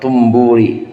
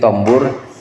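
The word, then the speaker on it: طنبور: Wa min ma'asil udhuni al-istima'u ila kalami qaumin akhfawhu anhu wa ilal mizmari wat tumburi. Tumbur, kalau di sini tombur, tapi lebih baik tumbur bacanya.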